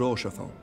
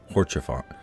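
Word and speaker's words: Haurchefant: Which reminds me, Lord Orchefant, if you would be so kind. Horchefant. That's how you say his name.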